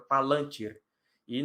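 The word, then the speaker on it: Palantíri: No lan, a sílaba tônica, Palantir. E no plural, Palantire, né? A sílaba tônica é no ti. Então, eu tenho o costume de falar Palantir, mas o certo é Palantir. E um abraço lá para o Saulo do Élfico e etc.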